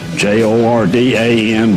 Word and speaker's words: Jordan: You know, I never knew the origin of that pronunciation until I started doing the family genealogy stuff up in West Virginia, where my great-grandfather was from. And the state archivist there in Charleston told me that it was a Welsh pronunciation, that the Welsh did not want to be confused with the Irish, so they took the Jordan and turned it into Jordan.